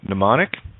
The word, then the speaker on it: mnemonic: wo OD or wold M is silent in mnemonic and always silent at